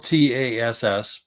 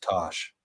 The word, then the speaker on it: Tass: So It's spelled TASS, but she explained it today to me in a way that I will never forget. So her full name is Natasha, Natassja. Oh. So she uses the TASS from Natasha, but it's pronounced Tosh.